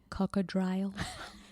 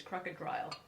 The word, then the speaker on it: crocodile: You mean like cocodrile? And gypsy lube. Yeah, not Jiffy lube. Gypsy lube. No, pronounce that correctly. It's crocodile.